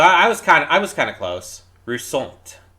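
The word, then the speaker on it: Roussainte: Roussant. You say it like French.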